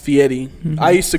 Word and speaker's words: Fieri: else kind of started consciousness beginnings so guy fieri which is pronounced fee Eddie I used to call like a couple years ago Fieri but it's it's fee Eddie Eddie okay he is a chef a restaurateur